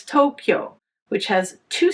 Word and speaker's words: Tokyo: In contrast, English speakers might say Tokyo, which has three syllables, but that is incorrect. It's Tokyo, which has two syllables.